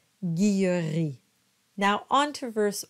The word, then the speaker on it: Guilleri: Both are correct, and they're pronounced the same, Guillery.